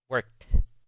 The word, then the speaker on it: worked: Eso es porque la E en la ed no se pronuncia, excepto cuando el verbo básico termina en una T o una D.